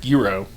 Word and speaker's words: gyro: a a a g I think it's pronounced Giro it's a gyro to me it's a gyro fair